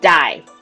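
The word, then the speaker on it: 大: on the surrounding mountains with the character for big which is pronounced die and it also means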